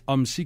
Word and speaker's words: Homsy: pas mal plus que nous autres monsieur OMSI qui est donc président de la flotte de